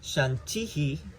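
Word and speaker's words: शान्तिः: The Visarga is like why we say Shanti, Shanti, Shantihi. It's because you have that dot under the H of the Shanti. And so when you have that dot under the H, it doubles the sound of the vowel.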